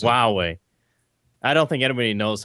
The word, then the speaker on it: Huawei: that Hawaii Heidi Seder huawei rhymes with Yahweh Huawei has been in